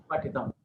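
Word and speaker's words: पठितम्: More stress. You are Mahaprana, you are pronouncing. But Pathitam. Pathitam, you better say. Or it will become a habit.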